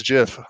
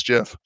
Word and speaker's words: GIF: referencing collab land on hey hey it's it's Jiff I don't care it's Jiff uh anything like that stoke the controversy exactly